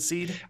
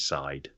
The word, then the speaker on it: Darkseid: Is it Seed? I say Darkseid. I've heard Darkseid. Apparently, even though it's clearly written Seed, apparently it is Side.